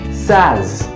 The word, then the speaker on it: says: like he says but the correct pronunciation of this word which is says is SAS SAS SAS said and then deserve